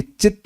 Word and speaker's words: चित्त: तो ये चित्त होना चाहिए। चित्त चित्त ठीक है? ध्यान दीजिएगा। ये चित्त है यहां पे स्पेलिंग मिस्टेक है।